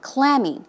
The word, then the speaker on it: clammy: adjective as you say the stress goes on the first syllable clammy it's cold and Dam